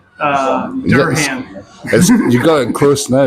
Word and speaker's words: Durham: I was down south in England, and I kept pronouncing Durham. Durham. You got it close now, yes. Yeah, Durham, and everybody's like, "What are you talking about?"